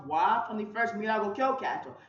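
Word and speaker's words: は: And notes the high particle is pronounced wa from the first Minago Kyokato.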